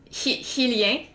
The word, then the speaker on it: Hylian: So we would pronounce it Hylien. Hylien. But then Hyrule is Hyrule, so you have to pronounce it Hyrule. So I think that comes from there. So now it's like ingrained in my mind. So I actually don't, to me the pronunciation Hylian sounds off.